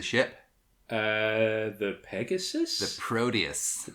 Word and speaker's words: Proteus: uh the Pegasus the Proteus the Proteus okay and I just hate the way they say it because they pronounce the T like a d the Proteus proteus